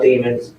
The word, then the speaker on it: Demons: That the text was Jamel Demons, go lay down, I love you, all in capitals. And remember, demons like rhymes with lemons.